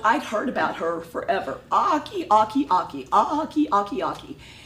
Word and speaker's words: Ache: And so then when I finally, I think, met her online, her last name is spelled A-C-H-E. Yeah. Ake. Yeah. I never knew she was Aki.